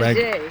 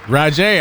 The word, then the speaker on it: Rodgée: from my my sister right gay no not reg roger i said it right jay don't play don't